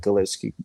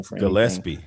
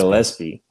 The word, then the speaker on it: Gillespie: Um, it's just let Bird run the one and let Gilleski Galis I can't pronounce his name. Gillespie. Gillespie. Gillespie.